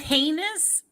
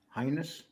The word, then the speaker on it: heinous: That heinous, isn't it heinous? Highness? No, highness. Isn't it hideous? It's heinous. Heinous.